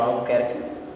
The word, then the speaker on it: Albuquerque: My name is Albuquerque. That's how you actually pronounce it.